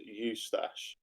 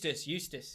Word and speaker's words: Eustace: Somebody said that I'm in collaboration with Eustache. Is that how you say it? Eustache, what's that? Oh, I thought that was your snaky man. Oh, Eustace.